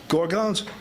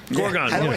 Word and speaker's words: Gorgons: There's just bluehead gorggones. Gorgons. Spell that with a G.